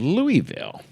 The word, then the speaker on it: Louisville: Mount Washington is south of Louisville, kind of north central Kentucky.